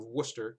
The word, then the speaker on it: Worcester: It's pronounced Worcester, Toad. Worcester is also a place. It's also a place in Massachusetts, but yeah, here it's called Worcester. Worcester. Like, you know, Worcestershire sauce.